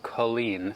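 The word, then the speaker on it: Culzean: Oh, pronounced Colleen.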